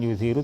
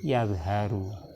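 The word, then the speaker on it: يَظْهَرُ: Kalau azharo yudhiru. Ini bukan yudhiru tapi yadharu.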